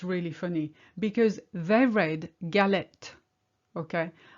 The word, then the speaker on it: galet: Okay, I read galet because obviously there's no E after the T, but they read the wrong one, and just that because they were ready to pronounce the last letter and that's what they